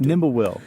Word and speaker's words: Nimblewill: Nimblewill.